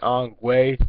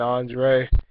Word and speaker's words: Andre: it was uh it could never really pronounce my name right i always say on way but said it correctly for the first time saying andre and uh just have to